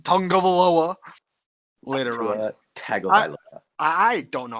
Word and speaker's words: Tagovailoa: But I do want to say to the announcers who say Tungavailoa, you're saying it wrong. Yeah, I don't know how to say it, but you're definitely saying it wrong. Where is the UNG in his name?